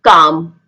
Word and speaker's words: calm: याद रखें जब भी L D F K M से पहले आए, D F K M से पहले आए तो L को बोला नहीं जाता. L is silent in that word.